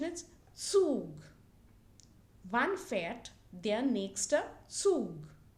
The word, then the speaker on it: Zug: So here the pronunciation is Zug.